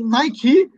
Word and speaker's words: Nike: It's because it's a brand, so they don't follow the rules of pronunciation.